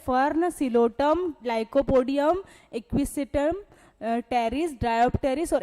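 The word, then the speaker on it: Psilotum: फिर क्या है टेरिडोफाइटा का पॉसिलोटम, दूसरा क्या है पॉसिलोटम। ठीक है, क्या है सिलोटम, सिलोटम बोलना चाहिए इसको अगर अपन प्रोनाउंस करें तो, सिलोटम।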